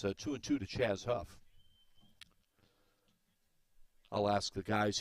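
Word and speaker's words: Chaze: First name spelled C-H-A-Z-E, pronounced Chaz.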